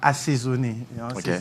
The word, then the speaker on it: assaisonné: Dès que tu crées marinade, tu laisses au lobara assaisonné. Au moment où assaisonné. Il faut prononcer le A. Assaisonné.